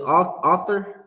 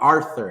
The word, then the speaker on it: Arthur: see that Meme with author is that how you say his name author and he's balling up his fist that's Christ right now in heaven Arthur AR Arthur that's how you say it right yeah he